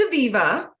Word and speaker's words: Aviva: action how would I say it yeah it's Aviva I really just prefer to go buy a